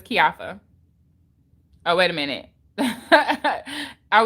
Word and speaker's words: Keioffa: your name thank you i couldn't pronounce it oh it's kiafa oh wait a minute